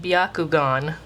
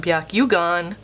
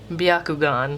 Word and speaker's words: Byakugan: far off from that biakugon not Byakugan biakugan that's how you say that one what else couldn't